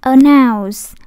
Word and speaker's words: announce: Tiếp theo nhé, announce. Cái em thấy người ta đánh dấu sắc ở đây, cái dấu âm ở đây, nhưng mà người ta đâu có đọc announce, đúng không? Đâu có đọc dấu sắc đâu. Người ta đọc thanh ngang, announce.